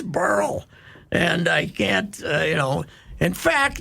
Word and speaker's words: Beryl: Yes, it's BERYL.